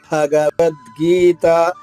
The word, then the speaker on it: భగవద్గీత: మరొక్కసారి ఓం శ్రీ పరమాత్మనే నమః శ్రీమద్ భగవద్గీత ఇక్కడ భ అనేది మహాప్రాణము ఒత్తుంది.